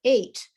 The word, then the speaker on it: eight: So like in the word eight, or though, or although, or through, or thought. These all have GHs. They are not pronounced.